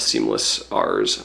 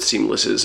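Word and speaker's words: SeamlessR: if you're familiar with seamless R's, or I guess the R is silent, if you're familiar with seamless's bass tutorials, you're probably recognizing a lot of these techniques from his videos.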